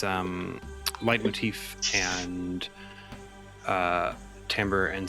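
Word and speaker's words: timbre: Jay, you're bringing in the correct pronunciation of tambber. All right, that's fair. No, I appreciate it. I appreciate it. That's how it's said cuz it's music. It's tambber.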